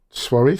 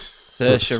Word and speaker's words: Saoirse: And I never get this right. Suarez? Saoirse Ronan.